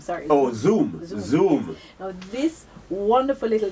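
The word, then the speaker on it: Xoom: as the iPad killer which is the zoo spelled with an X x o o n x o m sorry oh zoom zoom now this wonderful little tablet right kind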